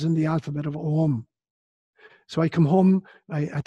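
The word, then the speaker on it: Ogham: written language it's called ohm spelt Angelica or gh a.m. pronounced as ohm GH in Gaelic is silent so ohm was a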